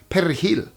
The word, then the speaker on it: perejil: say the Spanish word perejil. The idea was that native Spanish speakers could roll the R, r, and Haitian folks would struggle.